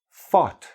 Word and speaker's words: fought: Fought. F-O-U-G-H. So the GH, again, silent.